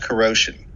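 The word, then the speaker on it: Kuro5hin: for a website called corrosion spelled k-u-r-o digit 5 h-i-n meant to be pronounced like the word corrosion because the site's founder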